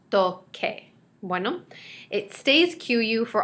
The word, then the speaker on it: toque: And without the QU, we have tose. So we want it to keep the hard C sound, toque.